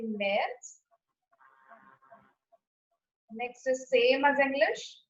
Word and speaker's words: März: March can be pronounced as März. März.